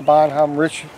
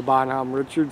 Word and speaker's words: Bonhomme Richard: Captain John Paul Jones, his ship was the Bonhomme Richard. I'm told I was pronouncing it wrong by someone that served on the Bonhomme Richard for the current Navy.